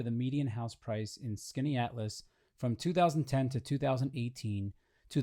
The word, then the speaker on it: Skaneateles: Question 34, in the town of Skaneateles, and I promise that is how you pronounce it, New York, house prices since 2008